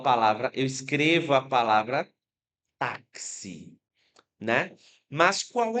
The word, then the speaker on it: táxi: É o X com som de KS. Por exemplo, eu falo a palavra, eu escrevo a palavra táxi, né?